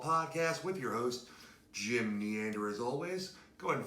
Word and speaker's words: Neander: with your host, Jim Neander. As always, go ahead and find us on Twitter. That's me. I'm at Jim Neander, spelled Neander with an N like Neanderthal.